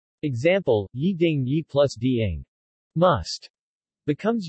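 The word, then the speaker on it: 一定: shibushi shibushi for ye ye is pronounced with second tone when followed by a fourth tone syllable example Yi ding Yi plus Dieng must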